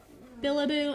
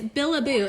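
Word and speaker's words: Bilibo: Billaboo. I don't know if you can see that. It's too hard to see. It's Billaboo, and it's spelled B-I-L-I-B-O.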